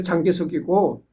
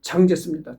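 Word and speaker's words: 蔣介石: 이때만 해도 이때만 해도 장개석기가 있거는 그러니까 장개석이라는 거는 그냥 우리 대한민국 한자 어로서 읽었을 때 장개석이고 중국식 발음은 장제스입니다. 장제스.음 음.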